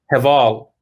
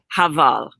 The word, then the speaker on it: Heval: Heval. Heval.